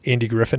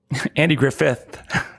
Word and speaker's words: Griffith: Um because what what I'm coming around to is like, can you use Andy Griffin in the title? Andy Griffith.